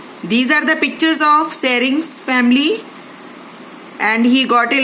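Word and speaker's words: Tsering: Sering, beta aage T dekh lo, T is silent. So we will say Sering only.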